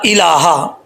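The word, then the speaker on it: إله: اس کو اللہ پڑھتے، لام کے اوپر شد نہیں ہے، حمزہ زیر ای، لام کھڑا زبر، لام کھڑا زبر پڑھنے یا سٹینڈ زبر، لام کھڑا زبر لا، لام سٹینڈ زبر لا، الہ، الہ بن ہا کو لمبا نہیں کرنا، الہ غیرک۔ اگر آپ کسی بچے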